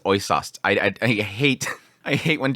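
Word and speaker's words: Äußerst: I've been avoiding saying this name, Oisast. I think that's the pronunciation is Oisast.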